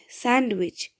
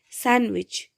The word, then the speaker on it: sandwich: Now, let me give you a general example like sandwich, SANDWICH, sandwich. When we pronounce it, we don't pronounce this D, sandwich, sandwich.